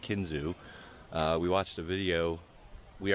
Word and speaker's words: Kinzua: I always pronounce it as Kinzua, but it's actually pronounced Kinzua.